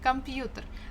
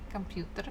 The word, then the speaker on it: computer: off the grid yeah computer the stress falls on letter U but we have kind of semi-stressed uh before the first syllable come computer computer but still the there